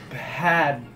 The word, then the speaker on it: Bhad: So anyway, but you know, I pronounce it now. Bad.